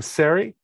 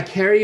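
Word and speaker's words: Ceri: was particularly interesting is, I think you pronounce her name, Sari. Yeah. Carrie. Yeah. Carrie. The entertainer. C-E-R-I.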